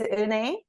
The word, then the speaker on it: Eunae: Um my name is Un. It's kind of hard to pronounce, right? Un. Uh it's like Renee, but take the R off.